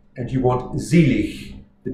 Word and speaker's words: Selig: So, for instance, this opening phrase, Selig sind die Toten, the S sound at the beginning of a word in German is always Z. So you cross out the S, you write a Z.